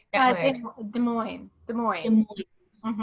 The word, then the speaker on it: Des Moines: Des Moines. Mm-hmm. Des Moines.